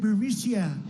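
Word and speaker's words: Burisma: executives so this uh bureaucia burmesia they say pronounce it borisia a real beautiful company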